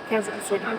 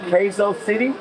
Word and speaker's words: Quezon City: How do you How do you pronounce it? Quzon City. Queso City.